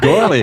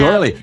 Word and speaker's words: Gourley: And gourley. And And lamb. gourley. Is it, how do you say, what's that vowel exactly? Is it Gore. gore? Like Gourley. gore, like Yeah. gore. Gourley. Gourley. Yeah, although when I went